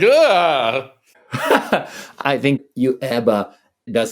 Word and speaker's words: UEBA: smell a bit of yuba in there, actually. Please don't pronounce that acronym. I always make my team say UEBA. UEBA.